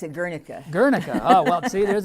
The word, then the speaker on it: Guernica: We pronounce it Guernica.